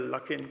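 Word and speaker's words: Luckin: of you heard of look in coffee okay there are a few hands up actually I think it's pronounced L Lucky in coffee basically it's a China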